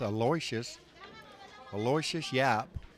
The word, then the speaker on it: Aloysius Yapp: I did ask him how to properly pronounce his name. It's Aloysius Yapp.